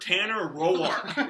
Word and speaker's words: Tanner Roark: Tanner Roark is how you pronounce it.